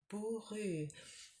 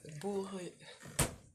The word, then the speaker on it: bourru: Qu'il n'avait pas de mots bourru. Now, I'm just going to check that word bourru. Bourru. It's hard for me to pronounce it because it's got that ou.